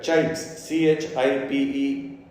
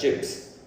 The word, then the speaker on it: CHIPES: So I've given you a mnemonic here, CHIPES, CHIPES. Sometimes, you hear people pronouncing this as chips, but don't forget the E.